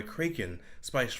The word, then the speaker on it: Kraken: brought to you by kren rum you may you may pronounce it Kraken but you would be wrong I'm pretty sure that's